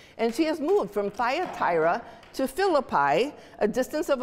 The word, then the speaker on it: Thyatira: goes boldly outside of tradition she is from thyatira I told you that just because that's how I was going to pronounce it she's from Taya thyra a region known for making purple dye which